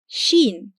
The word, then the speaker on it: شين: The name is Shīn and the sound is , .